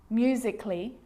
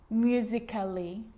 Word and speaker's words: musically: Y like these romantically musically logically so I'm not pronouncing romantically musically and logically cut the a out get rid of it romantically musically logically now